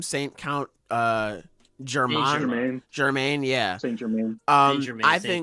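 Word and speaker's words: Saint-Germain: Saint Count Germain.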